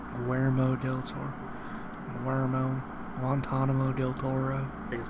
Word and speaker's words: Guillermo del Toro: gotta say, He still says his name wrong. He says it wrong like a couple weeks ago. I forget who the fuck he was talking to. It's Guillermo del Toro.